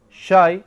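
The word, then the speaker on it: شاي: Shai akhdar. Yes, shai akhdar. He wants to know green tea. Shai akhdar. What about normal tea without milk? Shai, just say shai. Shai. But shy, same thing.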